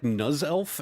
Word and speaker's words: Nuzleaf: Also, I've heard it pronounced like Nuzzelf and Nuzleaf. Nuzleaf just looks and sounds correct to me.